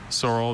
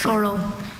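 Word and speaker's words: saurel: Sorrel is a noun from a word that went from Greek to Latin to French. Sorrel means any of several elongated compressed fishes with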